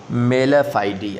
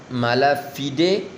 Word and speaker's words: mala fide: فائیڈ پڑھ سکتے ہیں، لیکن بہتر یہی ہے اس کو کیا پڑھنا ہے؟ میلا فائیڈی۔ اب دیکھیں میلا فائیڈی، اس کا آپ کے سامنے تلفظ جو ہے لکھا ہوا نیچے نظر آ رہا ہے، دو اس کے پروننسیشن لکھے ہوئے ہیں، یا مالا فیڈے یا میلا فائیڈی، ٹھیک ہے۔ میلا فائیڈی بہتر ہے۔ اٹ از a letter